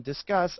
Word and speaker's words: Disqus: Discuss. I think they meant to say like discuss.